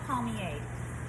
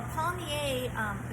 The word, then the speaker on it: palmier: after a turnover, and this is called a palmier. A palmier, first is spelled P-A-L-M-I-E-R.